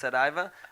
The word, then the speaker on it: Saraiva: It's spelled incorrectly on the screen. It's Saraiva, Gotcha. which is a very common Portuguese name.